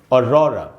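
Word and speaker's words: aurora: तो दोस्तों, इस वर्ड का प्रोनाउंसिएशन है और रॉरा, और ये एक नाउन है दोस्तों, एक नाउन की तरह सेंटेंस में यूज़ होता है।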